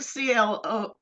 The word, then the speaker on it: Clewe: Clewe. How am I It's spelled it's like Cloue, Clewe, but that's the last name. Clewe is spelled differently.